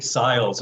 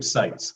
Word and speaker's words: Sites: I mispronounced your last name as, I think Siles earlier. I knew this funky trombonist named Billy Siles. So it's Seitz, everybody, not Siles.